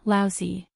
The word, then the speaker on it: Laozi: Li Mu corrected his pronunciation and said, Laozi.